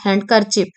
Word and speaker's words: handkerchief: Then ଦେଖିବା which letter in the word handkerchief ଆପଣଙ୍କର handkerchief ଯୋଉଟା ସେଠି କୋଉଟା silent letter D.